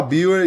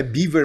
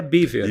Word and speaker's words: Biewer: me falou não é baver mesmo é é baver porque é uma raça que surgiu na Alemanha né e não é uma raça americana portanto a pronúncia correta é baver e baver é o